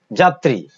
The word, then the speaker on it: যাত্রী: শব্দের বা পদের মাঝে বা শেষে যদি ব্যঞ্জনে র ফলা যুক্ত থাকে তাহলে সেই র ফলা কি হয়? দ্বিত্ব হয় বা দুবার উচ্চারিত হয়। যেমন যাত্রী, যাত্রী।